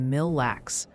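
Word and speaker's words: Mille Lacs: Oh, and a little birdie or several hundred chatters mentioned atkin is more like atkin and mil lax is mil lax.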